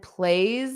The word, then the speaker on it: plays: She passes by and plays the piano beautifully. Now sometimes the S will become a voiced sound and that's what we have here.